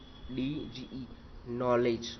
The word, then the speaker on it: knowledge: दूसरा, KNOWLEDGE, नॉलेज, हम क्या बोलेंगे, नॉलेज। के साइलेंट है इसमें, के हमको नहीं बोलना है, के को नहीं बोलना है।